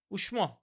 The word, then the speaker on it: উষ্ম: উচ্চারণটা এরকম হয়তো, উষ্ম হয়তো, উষ্ম।